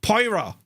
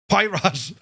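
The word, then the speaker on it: Poirot: well mate um where is this now Hercule parro how do you pronounce it though pronounced Pirro Pirro his name was pirot yes Jesus now H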